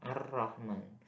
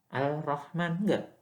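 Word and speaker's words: الرحمن: karena tadi yaitu Gom ar-rahman bukan Bacanya apa Al al-rahman tapi dia masuk ke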